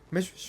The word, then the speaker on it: Mish: Mish rhymes with Kishmish, which is Erdo for raisin.